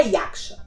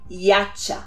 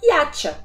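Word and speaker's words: 야차: Mas não é Yaksha. O correto é Yacha.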